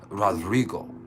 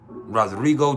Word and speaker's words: Rodrigo: the baby Rodrigo yeah make sure you roll your RS Rodrigo Rodrigo danan fenena oh